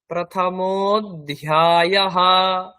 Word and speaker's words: प्रथमोऽध्यायः: তারপরে অথ শ্রীমদ ভগবদ গীতা, তারপরে অথ প্রথমোধ্যায়ঃ, অথ প্রথমো, এটা হচ্ছে লুপ্ত আকার, এটা উচ্চারণ তো হয় না। অথ প্রথমোধ্যায়ঃ, ডান দিকে এটা অর্জুন বিষাদ যোগঃ, অর্জুন বিষাদ যোগঃ।